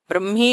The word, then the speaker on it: Brahmi: Brahmi is the right pronunciation.